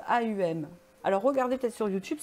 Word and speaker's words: Om: Ça s'écrit OM, mais ça se prononce AUM.